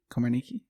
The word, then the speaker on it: Komarnicki: beforehand Kristen uh komarniki Komar Nikki Komar Nikki okay Komar Nikki yeah I just realized I've I've never actually said your last name yes it's pronounced exactly how it looks okay for some reason